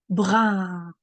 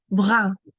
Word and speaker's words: brun: Color now, une couleur brun. Okay, let's practice pronouncing this. Brun. The S is silent. Brun. It means brown, but it's said with a French accent.